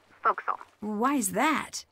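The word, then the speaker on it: forecastle: ship but it's pronounced Fel why is that try pronouncing it like an English sailor with no formal education F Castle folville over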